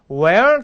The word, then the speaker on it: where: 어떤 분으로 또 이러는데 wh워 발음 where 이렇게 하시면 이렇게 하시면 절대 안 됩니다 where 그러면 너는 이것을 먹을 수 있는 Can you eat this 근데 어디서 넌 이걸 먹을 수 있니 그러면 Where can you eat this